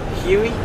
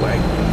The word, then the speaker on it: Hue: I need help to hu not UI you way okay we way way okay I'll I'll try way I can remember I'll think of way okay so greetings from